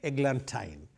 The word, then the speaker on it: eglantine: rang with wine so I have to say eglantine that is why deliberately I first mispronounced it to show you what rhyme scheme